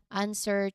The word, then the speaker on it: answer: Additionally, remember those few specific words where the W is silent even when it's not before an R, like answer, to, and sword. Of course, these words are common, and recognizing their silent W is key for accurate pronunciation.